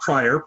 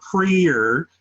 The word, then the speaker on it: Prier: Not Prior, Prier.